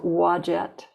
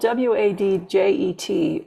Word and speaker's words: Wadjet: Or if you prefer, you can call her Green Tara of the forest, or Wadjet, which is spelled W-A-D-J-E-T or U-A-D-J-E-T, Wadjet.